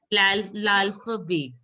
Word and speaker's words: l'alphabet: And alphabets is pronounced as l'alphabet.